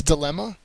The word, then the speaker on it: dilemma: concise number 10 is dilemma uh I think many people are familiar with this word so this should be pretty easy uh the second syllable has the accented Mark it's a noun a